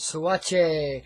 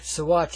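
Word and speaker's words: Saguache: of this county called swatch a so watch I should say I do it right now it's spelled real weird but anyway out here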